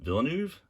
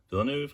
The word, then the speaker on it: Villeneuve: amazing uh Dennis gosh I can never pronounce his last name Villeneuve Villeneuve I believe it is fantastic director I